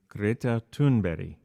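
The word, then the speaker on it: Greta Thunberg: of her name is greta tunberry you know even though it's spelled tuneberg so i will refer to her in the way of her native language as best as i can well she was 15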